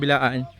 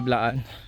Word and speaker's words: Blaan: mga kasama nating mga bilaan blaan yung pagpronounce sa kanila blaan sila ang nagkukuha ng